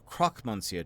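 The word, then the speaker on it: Croque Monsieur: with let's start with introductions you are the Croc Monsieur are you not that's the Croc The Croc moncio to you mongio people always get the pronunciation wrong I'm not really hearing the difference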